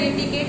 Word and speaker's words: etiquette: अब देखिए, एटिकेट में कहीं भी C का प्रोनाउंसिएशन नहीं हुआ, डबल T का भी नहीं हुआ, एटिकेट। अब यहाँ पे देखिए, T के बाद एक ही T का प्रोनाउंसिएशन हुआ, E का नहीं हुआ, और Q कहीं भी नहीं आया प्रोनाउंसिएशन, एटिकेट।